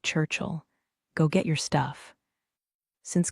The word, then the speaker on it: Churchill: He pronounced it without the I. So it sounded like Churchill.